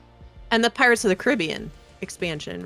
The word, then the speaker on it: Caribbean: There's a difference. It's like Corinthian.